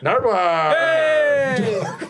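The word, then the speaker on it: Nardwuar: Is it like the Nardoir? Nardwir.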